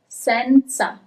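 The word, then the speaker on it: senza: Sensa. This might be tricky. And here's the solution. So you have letter S at the beginning of the word and then you have letter Z sa. Okay, you have both.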